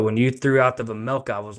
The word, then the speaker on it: Vejmelka: But when you threw out the Vejmelka, I was like, the J is silent, like the G in lasagna.